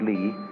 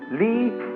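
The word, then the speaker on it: 理: talk to you about another meaning of a word pronounced li later on but it's quite a different word li is justice but you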